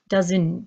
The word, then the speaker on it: doesn't: pronounced my way doesn't you don't hear the strong T at the end you hear dozen dozen the s does making the sound of Z doesn't he doesn't wanna